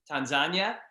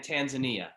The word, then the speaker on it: Tanzania: Now, I've heard it pronounced two ways, Tanzania and Tanzania. Why? Tanzania is the A is in Swahili. And so sometimes you'll hear Tanzania mainly by people who speak Swahili because A is always it's not a long A.